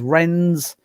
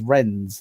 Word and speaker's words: Wrens: sailors known as so they were now known as wrens rwns which stood for women's world naval service and pronounced as ren's w-r-e-n-s so female sailor prior